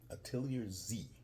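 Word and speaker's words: Atelier Z: familiar with it you may not it's uh pronounced atiar atiar Z straight out of Japan Japanese crafts ship Japanese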